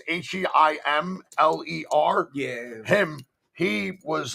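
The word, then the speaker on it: Himmler: I think you can say his name and you're not really in trouble, but it's Heimler.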